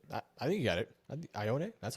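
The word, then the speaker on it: Ioane: 54, we have the Texans, who previously took off the board Ione, which is incorrect. How do you say that, Metro? Metro, do it. I think you got it. Ione?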